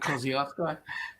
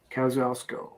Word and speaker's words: Kosciuszko: Mount Kosciuszko.